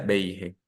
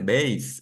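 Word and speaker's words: beis: esta de de beig yo hasta el día de hoy sigo viendo gente que escribe y que pronuncia Big el color beig pero la gran mayoría de personas dice veis el color lo mismo con bons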